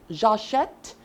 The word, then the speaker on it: j'achète: Je achète. Now, it won't be je achète since A is a vowel, achète begins with a vowel. So, it will be J apostrophe. It will be pronounced as j'achète, I buy.